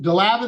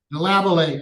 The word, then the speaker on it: Delavallade: number good morning Marian deav 42 3278 Mr DAV is that how you pronounce it DAV sir deabate okay Mr dealate my name is Tony Marabella